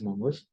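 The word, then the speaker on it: mongosh: you have something called Mongoose shell right or you know some people probably pronounce it as mongos just click on that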